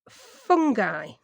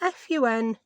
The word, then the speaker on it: fungi: I always thought it was pronounced fungi. And this American lady were pronouncing it fungi. Fungi. Is that an acceptable way of pronouncing it in the US? I've no idea. It really is the first time I've ever heard it pronounced that way. Fungi or fungi. Tomato, tomato, potato, potato.